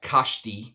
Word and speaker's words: Kashti: think it's called Uh Kashi is how you pronounce that k a s h t I think that's it's like a TI um and here it